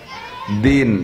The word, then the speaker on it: দ্বীন: যেমনতন মধ্যে একটা হলো দ্বীন শব্দটা দ্বীন শব্দ আমরা উচ্চারণ করি দিন বাংলায় দুই প্রকার লেখা